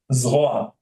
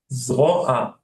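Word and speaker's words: זרוע: Zroa. Zroa. Zora. Zroa. Like draw or zora? Like the Z.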